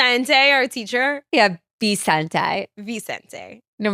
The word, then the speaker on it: Vicente: Vicente. No, remember you pronounced it with a B.